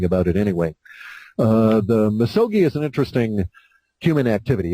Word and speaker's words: misogi: to expound on the misogi purification did I pronounce that right yeah misogi misogi would you care to comment on that